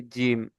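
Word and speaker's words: جيم: জি এই যে যে উপরে মাড়ি আছে আর জিভের মাঝখান, এই দুটো এরকম ভাবে লেগে উচ্চারিত হবে কি জিম, জিম। বুঝে এসছে আপনাদের সবার? জিমটা ওরকম ভাবে উচ্চারণ করবেন, জিম।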